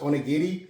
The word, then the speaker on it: onigiri: make some onti today we're making onigiri or probably more correctly pronounced onti if you're not familiar